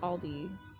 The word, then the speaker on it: Aldi: Saying Aldi's is Midwest. It's pronounced Aldi everywhere else.